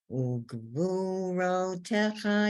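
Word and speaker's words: וּגְבוּרֹתֶיךָ: Ugvurotecha yagidu. Ugvurotecha yagidu. So the first is the vav with the dot in the middle. That's ooh.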